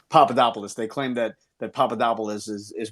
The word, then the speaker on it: Papadopoulos: the Greek guy whose name I can never pronounce. It's not Vasilopoulos. Papadopoulos. It's Papadopoulos.